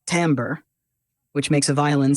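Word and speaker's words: timbre: wave this is called its Timber pronounced tamber which makes a violin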